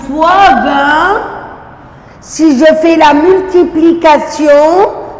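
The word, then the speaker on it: vingt: Et maintenant c'est le 20. 20, attention, je ne prononce pas le G et le T.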